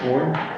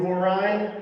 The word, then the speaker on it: Horine: Warren? I said it wrong again, right? What? No comment. Hello, my name is Horine.